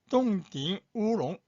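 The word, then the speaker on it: 冻顶乌龙: 그 다음에 5번이 동딩 우롱, 동정 오룡차, 동딩 우롱.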